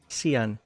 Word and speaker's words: Seon: uh leads us to King Sean seon I didn't spell it like Shawn otherwise I would have pronounced it wrong the entire time pragmatism does not go